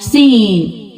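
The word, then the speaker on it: سين: From here we pronounced seen. Read it with me. Seen, seen, seen. Please don't forget to produce whistle sound in this letter. Whistle sound is very important.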